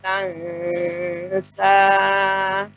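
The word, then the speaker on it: تنسى: Sanuqri'uka fala tansa. Tansa ya. Karena ini tidak tebal, jadi lebih disamarkan. Dan dengan cara lebih dibuka ya rahangnya.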